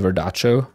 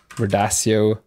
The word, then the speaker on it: Verdaccio: as well, is like we use Verdaccio or Verdaccio, or in Italian, as an Italian, I would call it Verdaccio. Verdaccio, maybe, is the correct pronunciation.